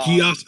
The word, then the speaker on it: Geass: Is Death it Note, Geass or Gias? Because I don't know how to Geass, pronounce it. Geass. It is Um, Gias.